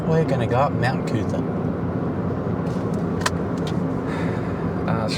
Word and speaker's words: Coot-tha: The crazy thing is it's not Mount Coot-tha in the way you might think. It's Mount Coot-tha. Yeah. And that's in all of the fucking, like, that's how they spell it.